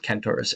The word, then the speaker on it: Kentaurus: When it's spelled with a K, I tend to pronounce it Kentaurus.